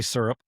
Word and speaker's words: syrup: Jeez, Jeannie wants to make fun of me for the way I say syrup. I can tell. Syrup. I can see it. Syrup. Syrup. That's okay. I say for me. It's one syllable.